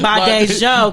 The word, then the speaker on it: Badejo: It's really Badejo. Badejo, because those French conquer my Nigerian people.